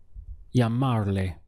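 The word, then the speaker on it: llamarle: to call to him this is how they say it in Spanish yah Marley how do you say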